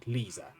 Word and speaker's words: Lisa: time the name's Lisa she pronounced it liisa and this is my